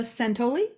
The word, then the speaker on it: Santoli: This is Julie D from NordoniaHills.news, and welcome to the interview with High Five Pet Care, featuring Kayla Santoli. Did I pronounce that right? Santoli, yes.